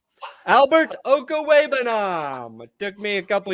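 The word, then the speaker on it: Okwuegbunam: Do you know how to pronounce his last name? Albert Okawebanam. Albert Okawebanam.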